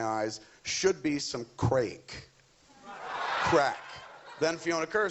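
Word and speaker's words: craic: xxx i'm pretty sure crack means what is what does that mean we're like it's so like cracking good fun or something like that but it's spelled c-a-r-a-i-c-r-a-i-c it's old irish i understand man you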